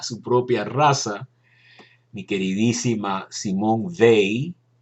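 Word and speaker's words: Simone Weil: propia raza mi queridísima Simón ve así se pronuncia en francés era una filósofa brillantísima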